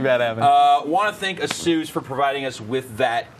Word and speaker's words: ASUS: I did not even know how to pronounce that, actually. I thought you were talking about something else. No, That's how it's ASUS. It's ASUS. ASUS. It's ASUS. All right. I know. I always said ASUS.